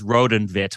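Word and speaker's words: Rood en Wit: pronounce it before uh the Dutch name is Roden vit which means literally red and white Roden vit the Roden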